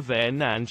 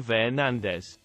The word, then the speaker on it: Fernandes: can get it and Bruno comes up and goes Bruno verand and we all call him Bruno ver nandez Bruno my apologies on